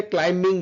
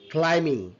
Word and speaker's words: climbing: And climbing, অনেক বলে climbing বলে, not climbing, it's a climbing.